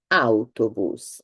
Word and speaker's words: autobus: So in autobus, remember that you need to pronounce every letter. So if you find it difficult, think about the AU, think about the car Audi. I don't think, or I've never heard anyone pronouncing the car Audi. Audi, so autobus, autobus.